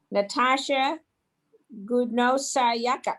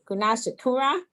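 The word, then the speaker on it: Gunasekara: Now, Suman Gidwani from University of Michigan, Natasha Gudnosayaka. No, wait a minute. I've been practicing this for a week, so let me say it right. Gunasekura.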